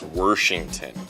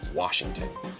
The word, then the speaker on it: Washington: the older generation, and it's Worshington. And all of the youngins, we say, no, it's Washington.